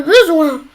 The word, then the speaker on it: besoin: Alors ici on a la consonne C, c'est-à-dire qu'on va écrire un seul S.